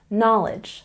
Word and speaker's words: knowledge: one's really important because if you know that the k is silent then you will never pronounce this word incorrectly you know that this is knowledge not knowledge knowledge I'm